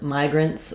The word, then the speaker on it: migrants: Whereas migrants will have a S sound for the plural because it ends in a voiceless T sound.